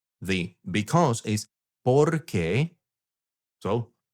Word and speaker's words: porque: accent on the E, porque, then that means because. And there is a tiny little bit of a difference on how you pronounce them. The question one is ¿por qué? The because is porque.